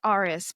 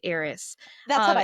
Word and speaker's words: Arus: Like, okay, one of our main love interests, I say Arus, but I know a lot of people say Aris.